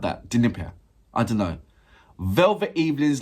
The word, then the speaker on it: Dnipro: Or you're not pronouncing the D as much? Dnipro. Like that. Dnipro.